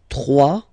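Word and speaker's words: trois: 2, final X not pronounced, okay? 2. 3, final S not pronounced.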